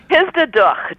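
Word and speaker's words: Hisdadukh: Duk is the word, Persian word for daughter. You know, like Bach. You know, we have to spit to say is that okay? Bach. All right. like Well, Bach is Duk. So Histaduk. I got to get a Jewish computer reader then.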